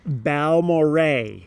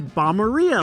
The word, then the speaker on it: Balmorhea: Balmorhea. Balmorhea State Park. here on the screen, because if you're like me, you see that spelling and you're like, "Oh, it's Balmorhea, like diarrhea."